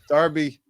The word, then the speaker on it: Derby: sorry to hear that he actually pronounces Darby the correct way yeah unlike the American why the incorrect you guys should spell it the way you should you should sound it out the way it's spelled instead of like saying it's a Darby but it's spelled Derby you know I don't know